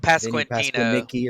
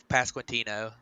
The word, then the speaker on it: Pasquantino: Nick Prado and I'm drawing a blank on the other guy that I can't pronounce his name. Vinny Pasquantino. Pasquanicki or Yeah, Pasquantino.